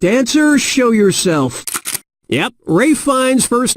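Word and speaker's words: Ralph Fiennes: was that easy correct answer show yourself yep ray Fiennes first name is spelled like ralph but pronounced race and his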